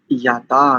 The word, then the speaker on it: याता: जब आप याता करते हैं तो याता का उच्चारण दीर्घ होगा, याता।